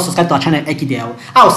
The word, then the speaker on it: Ekidel: if you have not subscribed to our channel akidel i would say should please click on the